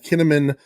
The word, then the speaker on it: Kinnaman: So Joel Kinnaman, whose last name rhymes with cinnamon, took over.